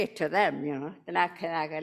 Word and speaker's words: Denakkanaaga: And this word, Denakkanaaga, like everybody say Denakkanaaga, the way we say that is Denakkanaaga. This is our correct way of saying this word. But everybody else knows the word like Denakkanaaga.